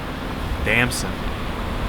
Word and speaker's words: Damson: Damson. Like as in, damn son!